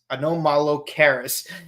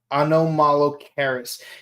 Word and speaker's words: Anomalocaris: I swear that one crustacean is so hard to pronounce. Anomalocaris. It's you have to break it down a little bit.